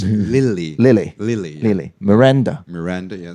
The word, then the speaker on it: Lily: when I first came it was saying Nini but it's not no no it's Lily Lily Lily Lily Miranda